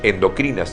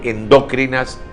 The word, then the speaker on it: endocrinas: Los vocablos endocrinas y exocrinas, adjetivos que sirven para calificar a las glándulas hormonales, deben ser pronunciados como palabras graves y no esdrújulas. Por ello, incurre en error el galeno que habla de endócrinas y exócrinas.